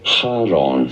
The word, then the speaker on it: Charon: For reference in Greek, this is said as Charon. Sharon. Charon. Haron.